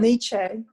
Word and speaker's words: Nietzsche: Nietzsche.